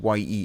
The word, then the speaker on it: ye: or the old Carousel apparently ye is pronounced the um also added this